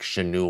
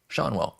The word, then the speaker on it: Schanuel: And Schanuel, because I was thinking like Schanuel or something like that, but then I heard it on the broadcast. I was like, oh, Schanuel, got it.